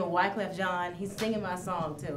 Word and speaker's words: Wyclef Jean: if anyone's listening from that's in Texas it's Wyclef Jean okay thank you for the pronounce I was tell you what they'd be